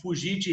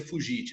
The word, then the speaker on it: fugit: Aí o fugite reparabile tempus. Olha só, é uma frase em latim, para falar a verdade, ali a pronúncia é fugit, né? Não se pronuncia fugite, né? É fugit.